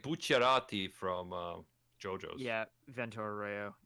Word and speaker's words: Bucciarati: I think if we're gonna be talking about Full Metal Alchemist being pronounced properly, then we also have to say Bucciarati.